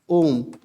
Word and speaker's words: ओम: त्रि मात्रिक माने फलत इसका उच्चारण देखो यहां पर आता है ऐसे ओम इसका आकार कैसे होता